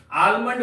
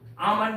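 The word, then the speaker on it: almond: लोग बोलते हैं आलमंड ल कभी भी ल नहीं पड़ेगा आ और आलमंड नहीं पिएगा आमंड आमंड यल एम I clear याद रहे एम के पहले अगर एल हो तो इस एल का उच्चारण नहीं करेंगे दूसरा एग्जांपल हम लोग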